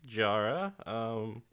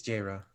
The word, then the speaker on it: Jaira: Thanks, Jara. It's Jaira. Jara. Yeah. Jaira. Jara. Yeah. I've been saying it right.